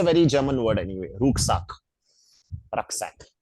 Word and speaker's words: Rucksack: Rucksack. Like pronounced as Rucksack.